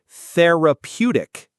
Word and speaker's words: therapeutic: Therapeutic. Theraputic. The stress is on the third syllable.